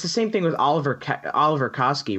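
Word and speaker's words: Oliwer Kaski: same thing with Oliver Oliver Koski right because he's like the all it's like ollie w right yeah that's actually a V but it's W but they say it like a V M Oliver yeah I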